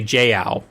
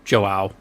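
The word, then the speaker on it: João: thought that was wrong i keep wanting to say j ow instead of joao but i seem to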